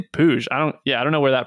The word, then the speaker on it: Puig: I always get confused at how they pronounce his name. I thought it was Puig. I would think it'd be Puig, but they say Puig.